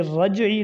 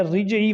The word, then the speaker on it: رجعی: طلاق بائن، طلاق رجعی، یہ رجعی لفظ ہے، رجعی وغیرہ نہیں ہے۔ اسی طرح طلاق مغلظہ،